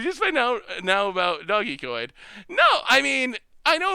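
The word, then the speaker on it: Dogecoin: people who were like, no, there's no way it's actually Doggy Coin. But it is Doggy Coin. The dictionary confirms it.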